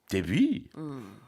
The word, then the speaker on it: debut: Debut. 근데 그거 아니고요. 이제 영어식으로 할 때는 debut 이렇게 발음을 하고요.